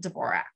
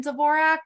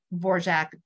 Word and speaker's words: Dvorak: not correcting them and Robert Osborne always pronounced it divorce so maybe she wanted it vorject really early on the common pronunciation has always been Dvorak and so that's what I stick with so um if I ever post a picture of Anne please don't come into my comments and say it's pronounced uh borjack with a silent d who also struggles with